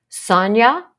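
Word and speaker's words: Sonja: it's written by a woman named Sonya s-o-n-j-a that's a tough one and it's spelled not like it sounds so I will put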